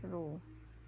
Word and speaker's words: rho: Ini bacanya rho.